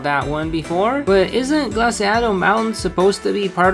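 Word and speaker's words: Glaseado: another one of the 10 sides of paudia glasito's grass first of all it's pronounced glaciado and second have you heard of the rumors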